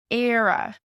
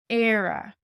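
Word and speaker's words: Éire: the language on we go so art is era era era era is Ireland when Ireland is used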